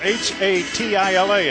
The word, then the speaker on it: Hatila: like spatula hat ask him how do you pronounce it it's h a t i l a hatila when they said Haula like spatula well